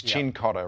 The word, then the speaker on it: Cincotta: saying your name wrong it's chin cotta right it is yes yes chin cotta so I've said that right you have yes yeah